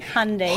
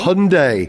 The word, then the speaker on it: Hyundai: Hyundai rhymes with Monday. Hyundai. Hyundai.